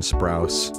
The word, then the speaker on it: Sprouse: apology to : dylan sprouse a i mispronounced their last name you're kidding their name is Sprouse and b couldn't remember